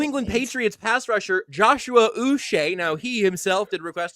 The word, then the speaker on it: Uche: acquired former New England Patriots pass rusher Joshua us now he himself did request to be called Joshua and noted that it's pronounced Us seths in timeout so before we